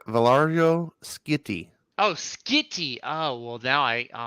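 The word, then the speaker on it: Valerio Schiti: Look, they have a pronunciation key. Valerio? It's Valario Skitty.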